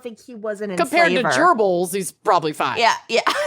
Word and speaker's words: Goebbels: gerbils gerbils the nazi gerbils oh oh and gobbles yeah but it's pronounced gerbils oh i didn't know that you gotta gorgle